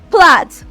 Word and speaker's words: plait: Plait is transcribed as art, plat, plat, just that, plat.